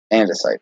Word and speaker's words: andesite: How do you actually say that? Andesite. Okay, I've been saying it wrong all this time.